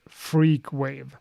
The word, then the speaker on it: Frq.wav: Frq.wav pronounced freakwave.